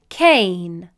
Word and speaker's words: cane: However, if we added the letter E to the end of the word, then the E would be silent and the vowel A would make a long A vowel sound. Cane.